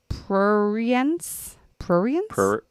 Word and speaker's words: prurience: That summarizes all the facts without indulging in the silliness or I don't know how to pronounce that word. What's the word? Prurience?